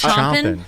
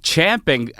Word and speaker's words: champing: Oh, 'cause chomping? It's spelled with an A. But it's champing. Dirty Rock pointed out that it's champing because horses champ.